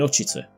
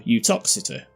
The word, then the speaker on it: Uttoxeter: If we keep going along Utoxeter Road for a while, funnily enough we'll end up in Utchiter, or Utoxeter.